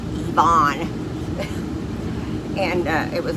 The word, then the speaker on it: Ivan: Now, we ended up not staying because when I made the appointment, I did it online, and I said I wanted Ivan, that's pronounced Yvonne.